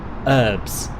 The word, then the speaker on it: herbs: about american english is why you call herbs herbs and you don't pronounce the h what's that about because